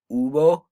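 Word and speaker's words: huevo: practice our silent h we have ubo so see how there's a silent h and now our CH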